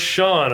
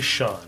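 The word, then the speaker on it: Sean: start our concept development this name is pronounced Shawn it looks like C on but it's actually Shawn and Irish name Shawn's school raised and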